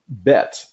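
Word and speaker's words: בית: The letter Bet makes a B sound as an English word ball, which you will see at the bottom.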